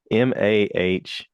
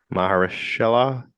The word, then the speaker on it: Mahershala: Uh, I can't pronounce Maheshhala. Mahershala Ali is the main character.